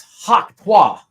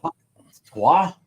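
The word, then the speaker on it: Hawk Tuah: You have to say it like this. Hawk Twa. no. Hawk Twa. Like you are planting a loogie on something for extra lubrication.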